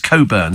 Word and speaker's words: Cockburn: for it uh also the surname cockburn pronounced Coburn says Alan in five what a waste of a c and a k I agree but that's